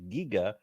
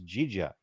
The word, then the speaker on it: Giga: ask uh no it's it's definitely uh closer to our modern pronunciation it's Giga yeah giga